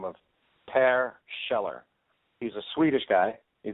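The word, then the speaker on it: Kjeller: last name is sheller and it's spelled KJ e ll er so when you have a name like soon K and another name like sheller you know it's just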